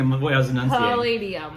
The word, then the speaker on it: Palladium: Palladium. Yes, there you go. Yes? I was like trying to say, you're like listening to the way I was enunciating. Palladium. Palladium.